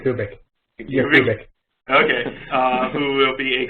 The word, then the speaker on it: Yakubik: How do you pronounce that last name? Yakubik.